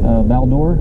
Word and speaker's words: Val-d'Or: on your vehicle where are you heading to baldur that's how you pronounce it bear hunting bring any firearms nope